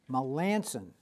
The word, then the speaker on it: Melanson: I'm going to ask you, because I've heard different pronunciations of that name. Is that correct, Melanson? What is it? Melanson. Melanson.